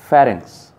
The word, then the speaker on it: pharynx: The tabular part of the throat above the larynx is the pharynx. और इससे ऊपर एक part है जिसको हम क्या कहते हैं, pharynx, which rhymes with larynx and produces a very high score at Scrabble.